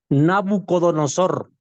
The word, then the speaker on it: Nabucodonosor: español es parecido no me acuerdo cómo se pronuncia Nabucodonosor Cómo Nabucodonosor perfecto Nabucodonosor el rey babilónico en realidad expulsó